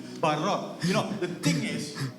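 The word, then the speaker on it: ברא: But it's pronounced as B-A-H-R-A-W. ஆனால் அது நம்ம சொல்லும் பொழுது B-A-H-R-A-W வாக நம்ம சொல்கிறோம். How do you pronounce it? Barao. Correct. Barao.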